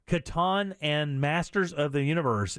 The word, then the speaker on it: Catan: just oh are you is it Caton or Katan and the Masters of the Universe Settlers of Katan Katan is that how it's pronounced yeah Katan and Masters of the